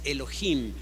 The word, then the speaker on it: Elohim: J de ahí que a veces hemos escuchado un error de pronunciar la palabra Dios Elohim porque tiene una h intermedia pero debiera de pronunciarse Elohim Entonces el nombre de Zacarías